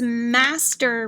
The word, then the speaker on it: master: three review word is master repeat master okay master go ahead and spell it er in the final position like butter and that's how you